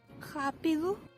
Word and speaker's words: rápido: In Portuguese, R represents a voiced uvular fricative sound, r, if it starts a word or is doubled. Otherwise, it's pronounced as an alveolar tap, r. An example being the word for fast. rápido, I should point out